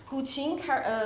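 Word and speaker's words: guqin: The gu qin. Can we try to pronounce it?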